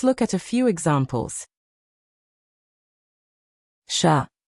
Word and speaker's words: chat: Chat. Don't say the T, just chat.